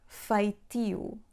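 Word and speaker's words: feitio: If a word ends in E-O, and the stressed syllable is the penultimate one, which means that the accent falls on E, we read it as EU, not you.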